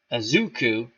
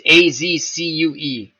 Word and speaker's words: Azcue: And the new catcher is Azuku. Azcue. I have no clue how to pronounce that guy's name. I think it's Azcue. Come on, Clinton Parks.